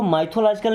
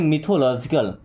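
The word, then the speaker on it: mythological: Okay, मिथोलॉजिकल, इसको माइथोलॉजिकल नहीं बोलते, क्या बोलते हैं, मिथोलॉजिकल।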